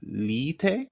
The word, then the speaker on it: lite: Because in English that would just be light, but that is not what it is in Swedish. Actually quite close to, kind of close. Lite? Yes! Nice! Perfect.